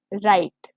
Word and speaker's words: right: Okay, but अगर वो बीच में आता है या फिर वो एंड में आता है किसी वर्ड के, तो वो साइलेंट हो जाएगा। जैसे हमने यहाँ पर देखा राइट में, राइट। ठीक है, तो इसमें जो जी एच वाली साउंड है यहाँ पर, ये कट गई।